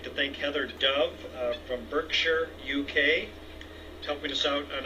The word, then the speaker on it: Berkshire: let me know that the towns that end in S-H-I-R-E over in England or in the UK are not Shire like I've been pronouncing it, that it's Sure. So Heather, thank you from Berkshire, UK.